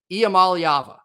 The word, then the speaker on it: Iamaleava: so bear with me IAM malava that's how you say it Nico IAM malava is